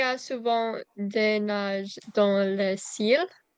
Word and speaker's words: nuage: Quand il fait mauvais, il y a souvent des nuages dans le ciel. So it's nuage. They're both 2 syllables.